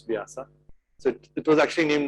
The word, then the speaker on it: Vyasa: There's a company that we invested in called Vyasa actually, but now since they have become big in US, they call it Vyasa. It's difficult for them to pronounce Vyasa.